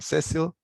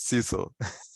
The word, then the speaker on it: Cecil: I'm Cecil, or Cecil. That's how Americans used to pronounce it, Cecil.